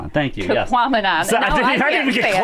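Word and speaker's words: Tahquamenon: Tequamanon. Thank you. Tequamanon.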